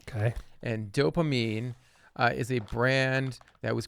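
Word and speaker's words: Doughpamine: are cookies from a brand called dopamine and it's it's spelled D o u g h p a m i n e okay and dopamine is a brand that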